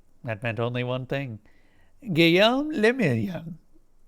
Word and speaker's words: Guillaume le Million: Guillaume le Million. I think I said that right. If it doesn't rhyme, you're not pronouncing it right.